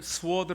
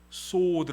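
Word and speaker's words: sword: 그래서 참고적으로 우리 가카를 스워드 라고들 많이 알고 계시는데요 스워드 아닙니다 소드 라고 읽어야 됩니다 소원을 한번 따라 해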